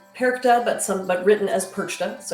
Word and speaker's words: Perchta: Now, Perchta, it is pronounced Perchta, but written as Perchta, so you may hear it both ways.